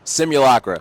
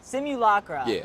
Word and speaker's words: Simulakra: guess not but yeah simu Locker it's like simulation okay take out the a